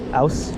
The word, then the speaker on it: Aus: and with Christian and Christian often will say house cuz it's easier for Christian to say for some reason but um I I will often say out which I think is actually an incorrect pronunciation here.